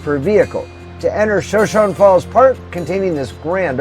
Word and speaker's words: Shoshone: to its marquee attraction, Shoshone Falls. And yes, that's how they pronounce that name here in Idaho.